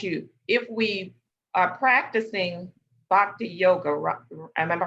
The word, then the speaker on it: Bhakti Yoga: I think, let me ask you, if we are practicing Bhakti Yoga, am I pronouncing it right?